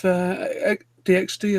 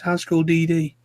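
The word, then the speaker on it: High School DxD: It's not DXD, apparently, it's High School DD. You know, In the UK, I think it's referred to as DXD. Yeah, but apparently not supposed to pronounce the X in between the D's.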